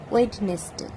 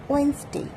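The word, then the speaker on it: Wednesday: বলে থাকি, সেটা হলো ওয়েডনেসডে। ওয়েডনেসডে মিন্স বুধবার, কিন্তু এক্ষেত্রে ডি পুরোপুরি সাইলেন্স থাকে, তো সঠিক উচ্চারণটি হলো ওয়েন্সডে। ওয়েন্সডে, সেখানে ডি এর কোনো প্রনাউন্সিয়েশনই নেই, অথচ আমরা ছোটোবেলা থেকে এটাকে ওয়েডনেসডে বলে থাকি।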